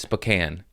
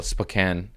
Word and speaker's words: Spokane: uh to portland spokane i was calling it spokane because it's spelled like spokane but the internet boy did you let me know that was wrong it's it's spokane oh really because it's not spelled that way i've never been there